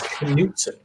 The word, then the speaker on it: Knutson: No, my K is not silent. It is nice to know you. And in my house, we eat with a knife and fork. So yes, you pronounce it as Knutson.